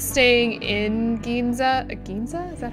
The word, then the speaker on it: Ginza: Ginza? Is that how you pronounce that?